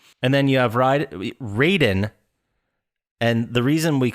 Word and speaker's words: Raiden: someone like yeah and then you have ride raiden and the reason we call him raiden instead of ryden is because in the first